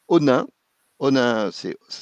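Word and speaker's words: Onnaing: Toyota Europe TME a construit à la fin du siècle passé une usine à Onin. Onin c'est ça s'écrit O N A I N G.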